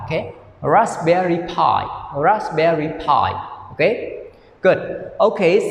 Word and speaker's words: Raspberry Pi: here raspberry pi okay yesterday i pronounced p right not p okay so now you can change the pronunciation pi okay raspberry pi raspberry pi okay good